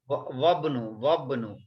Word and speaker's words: وابن: Wabnu. وابن ياسر تاجر. This is Hamzatul Wasl, we don't pronounce.